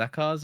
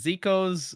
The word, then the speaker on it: Zekoz: Is it Zakos or or whatever?" And then I'm like, "Oh, it's Zikos." But you can say Zakos because that's also how I pronounced it back then.